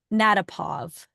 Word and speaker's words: Natapov: and then we'll yeah roll yeah okay and natapov is the correct pronunciation you got it okay all right okay here we go natapov is the star of the show today she